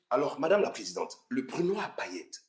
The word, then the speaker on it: Brunoir Payette: You've all butchered the name of this champagne. It's Brunoir Payette, not Brunoir Malette or whatever.